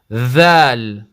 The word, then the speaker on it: ذال: Dhal. ذال This is the sound, yeah? Dhal. ذال Dhal. ذال Dhal. ذال Dhal. ذال. And dhal comes from the same articulation point as tha.